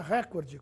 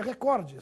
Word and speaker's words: recorde: correta Record ou recorde ouve-se cotidianamente a forma recorde com a tonicidade na anti penúltima sílaba portanto como proparo porém essa forma não está registrada nos dicionários e no vocabulário ortográfico da Academia Brasileira de Letras a forma registrada é recorde sem acento oficialmente ela é paroxítona